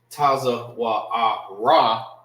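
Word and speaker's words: צואר: neck in Hebrew, is Taza Wa'ar. All right, so it will not be Taza Wa'ara, it's Taza Wa'ar. All right, you're making the R sound when you're using this right here.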